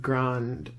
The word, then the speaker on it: Grande: reason that ariana grande I believe that's how you pronounce grande Grande okay I thought I thought I was like 50/50 on if I was gonna pronounce it that way or ignore the e I'm not very good